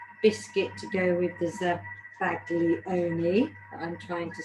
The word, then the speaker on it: Zabaglione: Zabaglione. Zabaglione. There we go. So, Zabaglione. So you don't really pronounce the G then, really? No, not really, no.